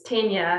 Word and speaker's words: Tennier: they called register you know they used to pronounce my surname it's kenya and then i think because it was offered very afrikaans they pronounced it tenure and and i used to have to i